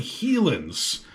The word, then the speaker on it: Helin's: It looks like it says HELIN'S, and I bet that's been mispronounced about 1,000,000 times. It's actually HELIN'S.